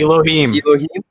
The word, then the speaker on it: Elohim: Elohim. Elohim. It's like an eh.